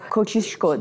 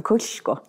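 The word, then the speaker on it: Kościuszko: edemeyeceğinden Emin oluyorsun ama koçişko denilen Kaş ayaklanması var Zorla söylüyorum kocişko Çünkü o şeyin üstünde s harfinin üstünde bir Aksan var ya o şey olarak okunuyor Dolayısıyla koçişko ayaklanması yani işte 1806'dan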